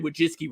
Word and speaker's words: Wojcicki: It took me forever to get Susan Wojcicki right. So. No, I am saying it right. Wojcicki is. I had to listen to it to make sure it was correct.